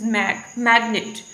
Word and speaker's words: magnet: For example, we have the word magnet, right? And stress is on the initial position, which is magnet.